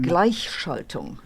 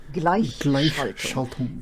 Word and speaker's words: Gleichschaltung: Since you're really just here for the German words, it's pronounced Gleichschaltung. Gleichschaltung.